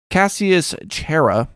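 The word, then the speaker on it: Cassius Chaerea: even his own guards cassius chera i think is how you say his name was a tribune of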